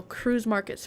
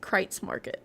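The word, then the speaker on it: Kreuz Market: Oh, cruise markets pronounced crates market.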